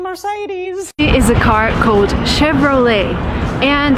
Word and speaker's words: Chevrolet: is a car code Chevrolet and surprisingly it's an American company but it uses a French name and sometimes Americans just